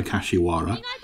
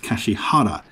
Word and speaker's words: Kashihara: years have called her kashiwara and so does hideaki ano in the interview on the gunbuster perfect collection but all the studio documentation is very clear that her name is pronounced kashihara not the least because